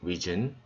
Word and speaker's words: risen: 여기서 risen 발음이 좀 어렵습니다. 보통 헷갈려 하죠. 이거는 rise에서 나온 단어죠. rise, rose, 그 다음에 risen. 발음은 risen.